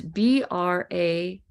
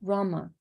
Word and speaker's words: Brahma: Brahma I might I may not be saying it with the B it's b-r-a-h-m-a Brahma not Rama that rules rohini star Brahma the archetype of creativity Brahma Vishnu Shiva so I'm sorry if my pronunciation renak was not being clear for you I'll try to make sure to Puff out that b a little bit more